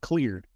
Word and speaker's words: Xlear: I want it called cleared." And so it's called clear. Clear. I was like read the name and with starting with an X, I was like never